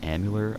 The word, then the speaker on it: Amalur: At number 7, we have The Reckoning Kingdoms of Amalur, I believe is how you say it.